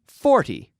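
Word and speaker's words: forty: So 14, da-da, emphasis on the second syllable. And 40, emphasis on the first syllable.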